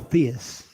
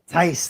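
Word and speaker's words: Theis: of the top five Daniel Theus Daniel Tice there we go you didn't even say his name right foreign we're like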